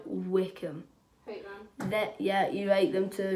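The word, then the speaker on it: Wycombe: Yes, I'm saying it right, Wickham.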